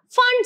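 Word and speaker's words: Pfund: region hence it is known as a fund series where p is silent then what is the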